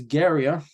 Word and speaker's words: Gia: came out in 2020 this band is Gia that's how the band's pronounced that's what the guy